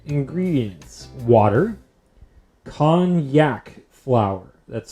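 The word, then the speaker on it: konjac: a japanese yam or something right ingredients water con yak flower that's spelled k-o-n-j-a-c kanyak flour chickpea flour and potato starch and calcium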